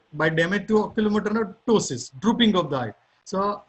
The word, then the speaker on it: ptosis: The drooping of the eyelid is known as ptosis. P is silent, okay, which is mentioned later on.